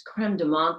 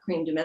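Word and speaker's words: crème de menthe: My father, I remember when I was waitressing, he said that it's creme de menthe, Lorraine, not cream de menthe.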